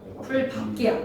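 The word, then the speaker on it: 풀밟기: 발음 어떻게 해야 돼? 밥기야 밝기야? 풀밥기야. 밥다의 리을 비읍은 비읍으로 발음해야 돼.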